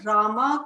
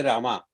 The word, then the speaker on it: Ram: do we call them Rama Krishna Ashoka like this this is wrong we should not fall prey to English language and we should continue to pronounce as we have been taught by our forefathers Rama should not be